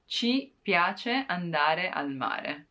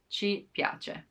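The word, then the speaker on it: ci piace: is pleasing to us chi piace again it's incorrect and it's from dialect from rome so the proper expression would be chi piace you like baking cakes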